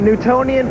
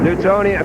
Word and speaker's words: Newtonian: that big that was a big word the Newtonian physics our uh Newtonian and Bill spell that word n-e-w-t-o-n-i-a-n oh like Newton yeah Sir